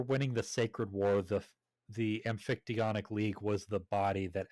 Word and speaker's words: Amphictyonic: Soon after that, he got the support of the Amphictyonic League. That's how it's pronounced.